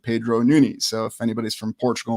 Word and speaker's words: Nunes: as Pedro Nunes or Pedro Nunez. There's many different ways to pronounce the name, but when I looked it up on Portuguese, it said Pedro Nunes.